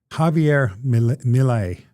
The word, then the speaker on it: Milei: They are from Javier Milei.